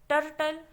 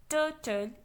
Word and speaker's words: turtle: टर्टल, टर्टल is wrong, turtle is correct।